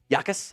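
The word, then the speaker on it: Jacas: I think it's pronounced Yakas. I think it's a soft G.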